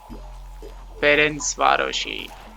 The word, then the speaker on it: Ferencvárosi: Ferencvárosi. Ferencvárosi.